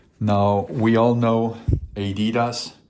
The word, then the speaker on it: Adidas: Now we all know Adidas. How it's pronounced here in the United States. It's if you want to pronounce it correctly, Adidas. Of course, it's pron pronounced Adidas.